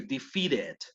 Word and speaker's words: defeated: Pero aquí sí pronuncio defeated. Esta sí suena la E. ¿Por qué? Porque defeat, el último sonido en defeat es la T. Entonces, si termina en T, ahí sí hago sonar la E del ED.